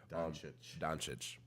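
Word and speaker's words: Dončić: I think Doncic, or I don't know how to pronounce his name. Doncic.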